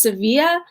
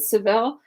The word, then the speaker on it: Sevilla: I said Seville is because like it's actually pronounced Sevilla but like most other people who aren't Spanish pronounced at Seville so I just got caught up because I'm